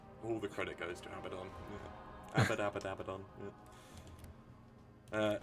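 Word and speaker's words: Abaddon: the credit goes to abadon ab ab abadon uh right I think we said we I keep call him abon should be AB abadon shouldn't it abadon abon abadon not abon look I know that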